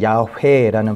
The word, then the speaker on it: 야훼: 하나님께서 자기 자신의 그 성호를 드러내셨던 사건들은 결국은 모세를 통해서 나는 여호와다라고 이야기를 하셨는데 그 여호와라는 말도 사실은 엄밀하게 따지면 야훼라는 발음으로 하게 되죠.